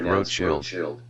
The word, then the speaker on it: Rothschild: In German, the name is spelled Rothschild and is pronounced Rothschild.